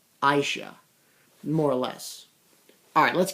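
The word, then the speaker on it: Asia: Finally how to pronounce that blonde girl's name. It's Aisha. Aisha.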